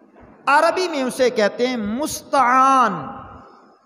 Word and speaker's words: مستعان: میں اسے کہتے ہیں مستعان۔ مستعان، یہ آپ اگر تلفظ دیکھیں تو میم سین تا عین الف آ اور آخر میں نون، مستعان، جس ہستی سے